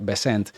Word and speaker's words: Bessent: Esto está muy controladito y el señor Bessent, porque mucha gente dice Bessent, pero en realidad se pronuncia Bessent, esta semana ha venido